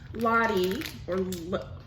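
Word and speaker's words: Lotte: Lottie, well, it's L-O-T-T-E. I would pronounce that Lottie.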